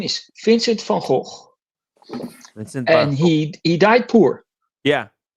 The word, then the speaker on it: Vincent van Gogh: By the way, I spell it like it's spelled in Dutch because Vincent van Gogh was Dutch, so his name is Vincent van Gogh.